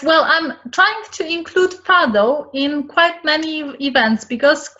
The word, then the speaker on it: fado: tiles, and also on fado music, which am I pronouncing it right? Yes, well, I'm trying to include fado in quite many events, because fado is something very Portuguese.